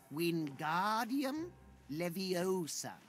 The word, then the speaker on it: Wingardium Leviosa: Pay attention to your pronunciation. It's Wingardium Leviosa. Remember, make the ga nice and long.